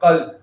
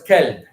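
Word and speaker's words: قلب: One example was that you guys know what qalb is in the Arabic? What is it? Heart. What's kalb? Dog.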